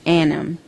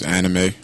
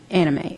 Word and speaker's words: anime: has been an evid lover of all things Anam in 2002 he found a home for his passion at aacon that's pronounced right Odon I think the word you saying is anime anime okay so Odon is an annual anime convention